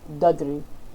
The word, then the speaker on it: dudri: And in Fisian that is dudri. Dudri is how they pronounce it.